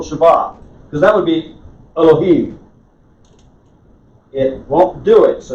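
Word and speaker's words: אֱלֹהִים: pronunciation you said elohim it's barely vocalized if you want to say elohim say it but make sure you say elohim and the faster you say that the less time you spend on that little tiny half vowel that's not really getting pronounced elohim right i guess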